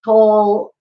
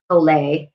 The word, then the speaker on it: Tolle: And Eckhart Tolle, I think his name is actually pronounced Tolle, but I always say Toll for some reason.